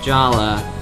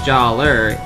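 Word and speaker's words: Jaller: gave him this new weapon and I think Jala uh as mentioned by another user it's Jala not Jer it looks like Jer but it's pronounced Jala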